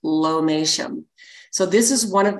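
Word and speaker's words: lomatium: the the plant is spelled l-o-m-a-t-i-u-m and it's pronounced lomation so this is one of those things like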